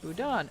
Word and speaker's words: boudin: uh has anyone had pork Boudin pronounced boudon oh ha I said that right nice I have